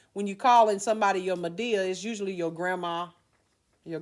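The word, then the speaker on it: Madea: Mabel Mabel right Medea is what a country term for that when you say my dear real fast my dear right so when you're calling somebody your Medea is usually your grandma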